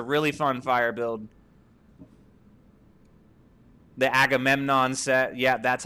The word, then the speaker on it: Agamemnon: the Agamemnon set.